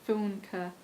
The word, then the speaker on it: Funke: Now I looked it up and I think that's how it's pronounced, Funke.